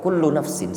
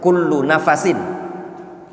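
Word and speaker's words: كُلُّ نَفَسٍ: Kata Imam Ibnu Qudamah, kullu nafsin, setiap nafas, afan yang lebih tepat bacanya kullu nafasin.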